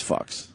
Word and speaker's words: Fuchs: That's close to fucks. Yeah. Did he spell it fucks? Let's be honest. It was a woman. She was like a Nazi. Was it F-U-C-H-S? Yeah, it was F-U-C-H-S. That's fucks.